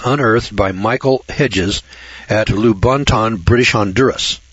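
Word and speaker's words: Lubaantun: The 11-pound skull was unearthed by Michael Hedges at Lubonton, British Honduras. Now, this is spelled L-U-B-A-A-N-T-U-N. Lubonton, British Honduras.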